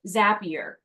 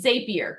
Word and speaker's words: Zapier: people are familiar with zapier also called zapier depending on which pronunciation you want and what that does